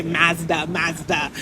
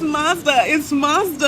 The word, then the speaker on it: Mazda: I remember I used to say Mazda. And they'd be like, no, it's Mazda.